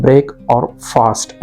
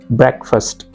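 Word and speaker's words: breakfast: को क्या लगता है ब्रेक और फास्ट ऐसे नहीं है बैक फर्स्ट इस तरह से कहना है यहां पर जो ए दिखाई दे रहा है ये बिल्कुल साइलेंट है ब्रेकफास्ट में एफ के बाद जो ए है वो बिल्कुल ही साइलेंट है मैं देखूंगा इसे का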